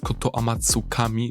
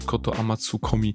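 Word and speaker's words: Kotoamatsukami: Uwaga, w tym filmie z jakiegoś powodu zacząłem zamiast koto Amatsukami mówić koto Amatsukomi i powtarza się ją parukrotnie, więc sorry za ten błąd w wymowie i zapraszam już do dalszego oglądania.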